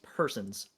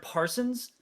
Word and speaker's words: Persons: My last name is Persons, the English word. Mhm. And people mispronounce it all the time. Is your name Persons? I've heard that. I've heard Parsons.